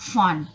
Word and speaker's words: phone: So pay attention, phone, not phone, but phone. We pronounce F, phone, allophone, phoneme, phonetic, phonology. Okay, so P and H we pronounce F, phone.